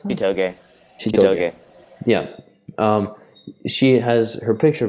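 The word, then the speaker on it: Chitoge: Shitoge, or how do I pronounce that? Shitoge.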